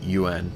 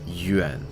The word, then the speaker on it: yuan: It's not UN, it's yuan, if you could tell the difference.